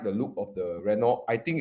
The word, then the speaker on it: Renault: comes to Renault right Renault hey you're supposed to say the r in the French way no they know it's